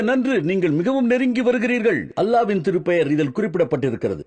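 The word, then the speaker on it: الله: அல்லாஹ்வின் திருப்பெயர் இதில் குறிப்பிடப்பட்டிருக்கிறது ஏ எல் ஏச் என்று எழுதுகிறீர்கள் நாங்கள் ஏ எல் எல் ஏச் என்று எழுதுவோம் பேசும்போது எழுத்து வராது அதை அல்லாஹ் என்று எங்கள் மொழியில் தான் உச்சரிக்க வேண்டும் இது ஹல்லா அல்ல அல்லாஹ் என்பதுதான் சரி சரி சரி சரி அல்லாஹ் அலா இல்லை அவர்களின் அடுத்த விளையாட்டு ஸ்கோபலின்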